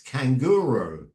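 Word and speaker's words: canguro: need to know it in Spanish it's the same as in English it's kanguru instead of kangaroo Okay then you ask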